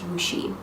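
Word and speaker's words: Wuxi: my time normal time for them so I was just like uh so I'm in wooi which is spelled wxi but pronounced wooi um wooi is a what they call a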